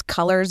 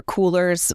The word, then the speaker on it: Coolors: I don't know if it's Colors or Coolers, but it's spelled COOLORS and that generates color palettes.